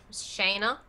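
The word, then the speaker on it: Shaena: your name again say what how do i pronounce major is the character's name again shayna shayna thank you s-h-a-e-n-a yes shayna hilltopper oh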